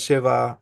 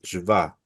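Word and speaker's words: שווא: No es sheva, es shva, ¿sí? Sheva es 7. Shva es esa puntuación.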